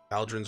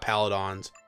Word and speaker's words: pauldrons: Yes, I know I didn't pronounce pauldrons right. Pauldrons right. It's pauldrons, right? Not paladons.